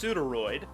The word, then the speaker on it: Pseudoroid: serpents uh well one it's pronounced pseuderoid and I assume I'm